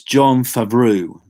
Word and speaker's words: Jon Favreau: Got to pronounce his name right. It's Jon Favreau.